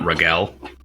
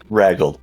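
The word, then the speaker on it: Raguel: regal uh regal regal it's r a g u e l I'm pronouncing it regel but it is ragle the red ragle we'll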